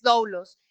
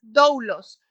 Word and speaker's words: doulos: La palabra griega para siervo es doulos y significa esclavo, siervo varón o siervo por vínculo.